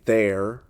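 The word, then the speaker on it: þeir: Enter the Norse there pronounced roughly there.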